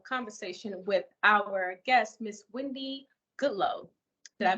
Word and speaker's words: Windy Goodloe: are having a conversation with our guest Miss Wendy Goodloe did I pronounce that correctly yes he did thank you